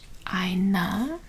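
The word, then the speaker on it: eine: be for nominative is Aina e i n e because when there's an e on the end in German you pronounce it kind of like uh that's how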